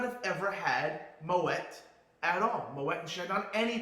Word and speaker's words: Moët: This gentleman, his family, Claude Moët, phonetically, M-O-W-E-T-T. Not Moët, not M-O-A-Y-E, phonetically spelled out. Moët.